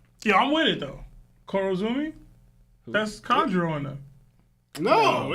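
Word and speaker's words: Kurozumi: you said but you were saying the last name wrong so you thought you were saying that other last name you said Kudo Zumi bro yeah I'm with it though Coro Zumi that's kro and there no there's no women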